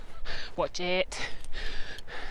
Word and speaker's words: Watchett's: Watch it. Not spelled like that, but it made me chuckle.